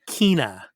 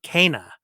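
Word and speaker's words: Kena: a lot of you in the past say kina okay well the in this game the main character's name is pronounced k like in like in the letter k kana so uh kana bridges spirits uh this is so close to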